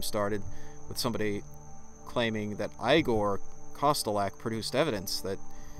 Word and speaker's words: Igor: a Gore's video yes I Gore as in like I thought it was pronounced I Gore no it's pronounced Igor